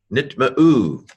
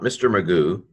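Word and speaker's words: נטמאו: Not Mr. Magoo, but nit ma'u.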